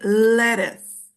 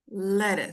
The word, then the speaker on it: lettuce: okay English you say lettuce lettuce L yeah um it's a tricky one but it's easy to remember if you remember that it sounds like let us okay so like this